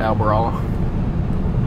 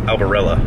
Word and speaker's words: Albarella: back to hay oh pronounce it like there's an e it's albarella it's alvarala beer stop the truck get